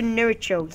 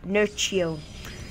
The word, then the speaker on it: Nerchio: And we do see quite a big attack by Asa Nuricho. Yes, I said it wrong. Nurio.